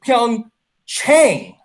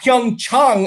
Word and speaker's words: Pyeongchang: a problem because NBC anchors decided to intentionally pronounce it Pyeongchang, not Pyeongchang as the Koreans like it pronounced.